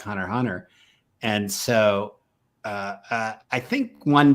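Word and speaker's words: Hunter × Hunter: That I hate saying Hunter x Hunter because I know the X is silent, but Hunter x Hunter.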